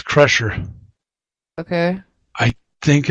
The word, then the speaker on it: Kreischer: my world uh sure I think it's pronounced crusher I think I think you're right it's pressure mines in